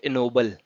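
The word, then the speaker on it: ennoble: इसको आप कैसे से प्रोनाउंस करेंगे, इसको आप प्रोनाउंस करेंगे इनोबल। ठीक है, इसकी प्रोनाउंसिएशन देखनी है तो आप इस लिंक पे जा सकते हो, एनोबल बोलेंगे इसको। ठीक, एनोबल का मीनिंग क्या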